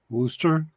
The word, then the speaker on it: Worcester: Everybody pronounces the name of it wrong. Worcester.